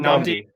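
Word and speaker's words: Nnamdi: How do you pronounce his name? Namdi.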